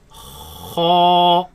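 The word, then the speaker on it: خاء: It is incorrect to pronounce this as kha. That is incorrect. It should be heavy. Kha.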